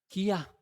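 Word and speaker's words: קיא: el autor de Jonás el verbo que se pronuncia guía, vomitar.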